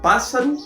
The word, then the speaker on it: pássaro: por exemplo aqui SS Eu tenho dois s mas será se eu pronuncio esses dois s no meio de uma palavra por exemplo pássaro eu falo pássaro eu falo pássaro como se tivesse pronunciando os dois s não né passaro se